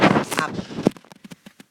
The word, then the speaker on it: 앞: 할 때 얍 말이에요 앞을 발음하면 앞 음절 끝에서 피흡이 비읍 소리로 바뀌어서 소리가 나죠 앞 이런 것이 교체요 피이 비읍으로 교체되었다 이렇게